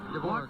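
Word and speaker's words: Dvořák: Dvorak.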